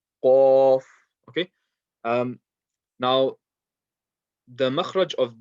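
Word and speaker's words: ق: Okay, so the sound is going to come from the back end of the mouth, not the throat. It's not going to be like kha. Okay, it's going to be Qaf, and the way is the back end of the tongue is going to be raised, and that's how you're going to get this sound out.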